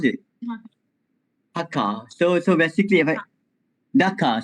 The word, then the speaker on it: Dhaka: How to pronounce it? Dhaka.